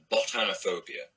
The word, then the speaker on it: botanophobia: So I go with botanophobia as in botany, afraid of botany as in plants.